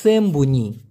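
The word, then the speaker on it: sembunyi: এই লুকানাকে বলতে হবে সেমবুনি এসই এম বি ইউ এন বুন ওয়াই আই সেমবুনি সেম্বুনি উচ্চারণটা হবে সকার ম বি বয়সু ন বুন ই সেম্বুনি অথবা রসই না দিয়ে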